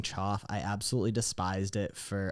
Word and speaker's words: Choff: Uh, so for those who don't know, I'm Choff. C H O FF is how you spell it.